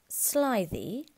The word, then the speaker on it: slithy: Pronounce slithy as if it were the two words sly and thee.